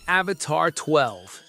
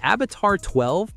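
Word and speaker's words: Avatr 12: The Avatar 12, pronounced 12, is a grand coupe that looks like it rolled off the set of Blade Runner.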